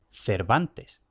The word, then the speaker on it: Cervantes: en siglo de oro no importaba si la grafía era Cervantes con b o Cervantes con v la pronunciación era ya la misma Cervantes Y a lo largo